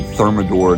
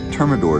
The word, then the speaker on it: Termidor: nicer and we also have to put some thermador down which is a product oh we also have to put some termidor down which is a product that keeps termites